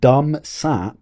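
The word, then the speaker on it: Dum's app: Now, please do not mispronunciate this. It's not Dumsap. He's not a Dumsap. He's a smart guy. Dumsap. Right? Dumsap. Dumsap. It's dum {apostrophe} s app. It's his app.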